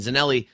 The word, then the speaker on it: Zanelli: Jeff on there and zanelli spelled like it sounds Za n i so